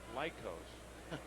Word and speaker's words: Lycos: It's pronounced Lycos.